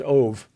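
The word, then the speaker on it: אוב: Yeah, the Ove is it's transliterated from Hebrew into English as OB, but it is pronounced Ove.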